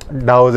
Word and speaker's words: Tao: तरह बुद्धिज़्म को पढ़ा जाता है इस तरह डाओ के जो स्क्रिप्चर्स हैं, TAO करके स्पेलिंग आती है इसकी, तो चाइनीज़ या ईस्ट